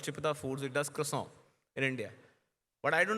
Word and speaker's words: croissant: and by the way, the actual French pronunciation of the croissant that I used to call is called croissant. It's K-W-A-N, croissant.